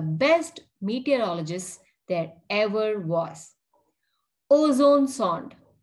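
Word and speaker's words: ozonesonde: And what is ozone sond? You have to say it like O, zone, sond.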